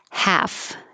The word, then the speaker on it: half: good as it gets half no l just forget the l half if you use